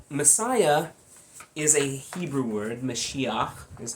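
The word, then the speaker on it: משיח: the Messiah um Messiah is a Hebrew word mesiah is how you pronounce it in Hebrew um Messiah just means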